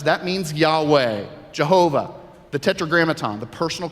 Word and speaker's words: Yahweh: tetragrammaton we pronounce it Yahweh we pronounce it Yahweh it's the Hebrew pronunciation of those four consonants okay to lessen eyes